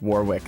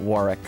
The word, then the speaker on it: Warwick: Uh we have Greenwich and uh but we also have Warwick and it's pronounced Warwick and not Warick.